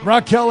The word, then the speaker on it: Raquel: Is it Rachel or Raquel Evers? How does she pronounce it? Raquel Evers.